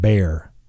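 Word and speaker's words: Bexar: b-e-y-e-r like the aspirin okay baxter b-e-x-a-r is pronounced bare b-e-y-e-r like the aspirin isn't bear b-a-y-e-r i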